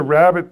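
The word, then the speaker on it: rabbet: Here's a rabbit plane.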